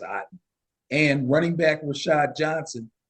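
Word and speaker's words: Otton: to tight end Kate Odon or Aon I think it's pronounced Aon and running back Rashad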